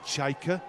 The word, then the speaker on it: Chaika: And so the thing is that my mum came up to us this morning and just said, it's actually Chaika, or pronounced Chaika.